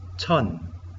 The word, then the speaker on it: 천: Pronunciamos chon.